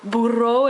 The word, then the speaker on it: burro: a burro, I guess, a burro, or burro if we're gonna say it like you're supposed to say it.